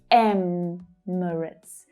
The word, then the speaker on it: Emirates: The stress in Emirates is on the first syllable. Emirates.